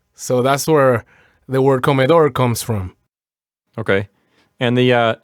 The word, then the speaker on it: comedor: So that's where the word comedor comes from. Okay. And the sounds like you're putting the accent on the last syllable of comedor. Yeah, it goes on the last syllable, on the O. So comedor.